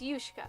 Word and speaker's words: Ushka: So it's Yushka. Oh, so it's not Ushka. It's Yushka. Gotcha.